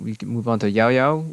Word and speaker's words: Yaoyao: And then we can move on to Yaoyao, which in Cantonese is yu. The specific tone is the Cantonese fourth tone, which is actually kind of difficult to pronounce. It's kind of a low falling tone, so I may be pronouncing it slightly weirdly, but it should still be correct. The Japanese is yo, and then in the Mandarin is Yaoyao.